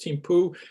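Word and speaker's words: Thimphu: largest city is timpu the h is not pronounced timpu here not far from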